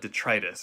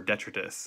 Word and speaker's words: detritus: There's no other word for it, detritus or detritus. I think it's pronounced different ways in different circles.